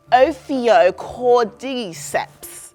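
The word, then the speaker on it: Ophiocordyceps: favorite words actually yeah you got to say it like oio cord deeps yeah so what this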